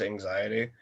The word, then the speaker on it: AXTY: working with a group from Brazil, they're called it's spelled AXTY, but it's pronounced anxiety.